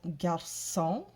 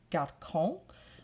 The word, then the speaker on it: garçon: And there are some exceptions, such as garçon, which is a C followed by an O, which ordinarily would say garçon.